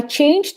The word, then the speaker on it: changed: I changed school when I was 10 years old. So changed. Okay. Regular. Also, please remember we don't pronounce the E, okay, in a simple past.